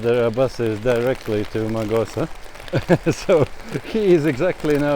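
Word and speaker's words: Mağusa: out from her that the proper pronunciation is magosa not magosha and not the greek from augusta but turkish magosa is the way how you want to ask here if you want to get any help well that's something else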